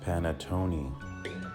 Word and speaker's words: panettone: It's pronounced panettone.